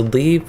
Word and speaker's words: leve: Okay, so leave would be the most common way that you hear it pronounced. The reason I didn't think it would be leave at first is because it was Leva quests, L-E-V-E quests, and that's what made me think leva instead of leave.